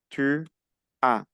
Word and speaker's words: tu as: La S final, saben que no se pronuncia, entonces yo digo tu as. No pronuncio la S.